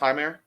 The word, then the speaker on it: Jeimer: You mean Heimer? Is it pronounced Heimer? I think so.